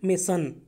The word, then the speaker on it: mason: बोलना, आपने बोलना है मेसन, ओके, वेसन नहीं है, मेसन। सो प्रोनाउंस ठीक से करना, MASON, मेसन, ओके।